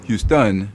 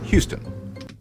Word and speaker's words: Houston: on words for example all French words are stressed on the final syllable P maon usually with a higher pitch and greater volum interesting that's why French speakers will call the Texan City Houston instead of the English Houston oh Houston Houston wow